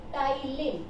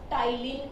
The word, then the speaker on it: ptyalin: This salivary amylase is also named ptyalin. P is silent here. This is named as ptyalin enzyme.